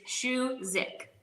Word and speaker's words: Szewcyk: pronounce my last name it's Shu zik shik yeah Shu and then zi I think what happens is that how it's spell it kind of throws people off that's that's probably why